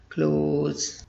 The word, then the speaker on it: clothes: cloths something like that but that's wrong correct pronunciation is closed people wear new clothes during festivals people that's